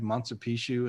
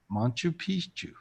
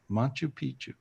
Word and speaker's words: Machu Picchu: lot of spiritual gifts in peru you have montse pichu and all this other stuff right yes yes wow wow wow wow you know yes machu picchu beautiful how do you say it i always